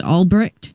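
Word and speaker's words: Ulbricht: I believe his last name is pronounced Albrecht, but I saw quite a few posts that were supposedly made by him.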